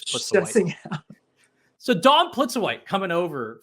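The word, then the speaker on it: Plitzuweit: I don't know if maybe there's film of me like realizing it's Plitzowite.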